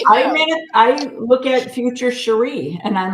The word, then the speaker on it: Cherie: I go by Cherie, but a lot of people say Sherry, Cherry, Cherie.